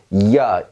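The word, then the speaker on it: Jahr: 없는 스펠링처럼 무시해버리는 겁니다. 자, 보세요. 얘는 이야, 1년 할 때 연을 의미합니다.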